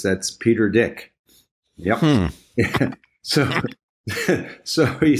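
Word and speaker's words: Dyck: to pronounce it I said how do you pronounce his name Jeff and he says that's Peter dick yep so so he said you I he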